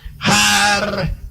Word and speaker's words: Harpócrates: Los místicos de los misterios de Eleusis pronunciaban aquel nombre en la siguiente forma: Harpócrates.